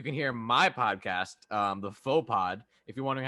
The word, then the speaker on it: Faux Pod: On Wednesdays, you can hear my podcast, the Faux Pod. If you're wondering how to spell that, aka if you're Zanka, it's THE space FAUX space POD. The Faux Pod. It's a play on the word faux pas.